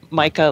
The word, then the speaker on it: Micah: to pronounce his name micah like the mineral mica and so i can't